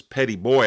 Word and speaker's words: Petit Bois: What is now Petit Bois Island, the locals pronounce this Petty Boy Island, off the coast of Mississippi, was once the western end of Dauphin Island.